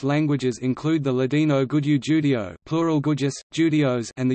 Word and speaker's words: Jude: The German word Jude is pronounced Judi, the corresponding adjective Judish, Jyd, Jewish, is the origin of the word Yiddish.